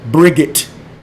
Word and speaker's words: Brigit: the word bright, B-R-I-G-H-T, remember that that H can be pronounced as I. So when you think of the word bright, remember that the I don't have to be bright, it can be Bri. So Brigit. When you look at the